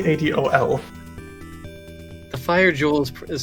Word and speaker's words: Adol: whole voice acting C calls him adal adle when it's definitely adol the fire jewel is